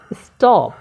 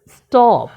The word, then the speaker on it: stop: করছে এস এর উপর যেহেতু এস এর পরে ব্যবহার হয়েছে তাহলে আমাকে এখানে ট ব্যবহার করতে হবে শব্দ উচ্চারণকে দেখো স্টপ স্টপ স্টপ এখানে স্টপ বলবো